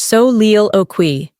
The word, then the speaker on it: soliloquy: Here's one you may recognize from literature: soliloquy, pronounced so-leel-o-qui.